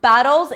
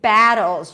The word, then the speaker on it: battles: can see so funny it's not battles it's battles you've got to drop your jaw pull the lips to the sides and say ah bat and then it's gonna sound like the word battles right the battlefield battle okay